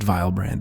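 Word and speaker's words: Vylbrand: all the way from vilbrand which we learned yesterday is now pronounced vilebrand even though that's better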